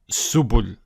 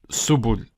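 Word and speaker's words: سُبُل: It would be pronounced as subul, subul.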